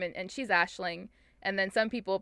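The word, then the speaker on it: Aisling: so uh barry says she pronounces the g in her name and she's ashling and then some people pronounce it ashlynn so it's also like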